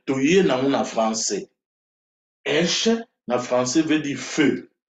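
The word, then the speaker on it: אש: Aleph na Shin eza prononcé Esh.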